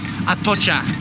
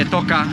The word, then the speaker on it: Atocha: the city anyway to get to Atocha, is how you apparently pronounce it. I've been saying to everybody Atoka, and I've never been corrected until like just before, so that's good.